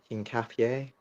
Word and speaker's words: Hincapié: Hincapié. Hincapié, Yeah, that's it.